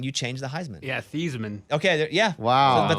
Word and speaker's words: Theismann: change the heisman yeah thiesman okay yeah wow but they changed it just to rhyme with heisman wow um so yeah